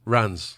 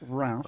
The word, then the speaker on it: Reims: it's way far from the word. But that's how it's spelt. Ra. Reims. Rans. Like, it's Reims, but you can say Reims. Reims.